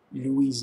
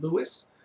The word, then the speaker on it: Louis: Although in English you tend to pronounce it Louis, it's really Louis, since of course he's French.